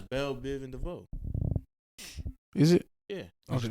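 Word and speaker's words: Bell Biv DeVoe: don't care bro you just rap about who Bill Biv DeVoe what's his name I don't even know who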